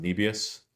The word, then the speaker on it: Nebius: No, it's now pronounced Nebius. Uh if he says it that way, that's the way it is, so.